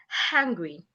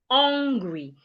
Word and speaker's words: hungry: Now the second word that I have is hungry. A lot of people articulate this word as hungry. It is not hungry. Your lips should not be rounded. Instead, it should be like this. Hungry.